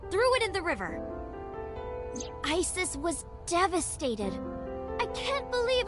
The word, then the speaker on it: Isis: Mom is named Isis. but in ancient Egyptian, it's pronounced closer to Ise or Ase.